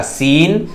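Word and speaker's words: scene: यहां S silent है, ये हो जाएगा क्या, सीन।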